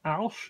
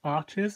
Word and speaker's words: Arches: like Alche or Arches, if you're in the USA and can't pronounce the French properly, it is Alche, not Arches, as many people say it. It's a town in France.